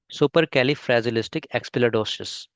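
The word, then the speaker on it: supercalifragilisticexpialidocious: ये Indian pronunciation है, super कैलिफ्रैजिलिस्टिक एक्सपियालिडोसिस। अब देखते हैं ब्रिटिश। ब्रिटिश और इंडियन लगभग लगभग सेम ही रहता है जनरली।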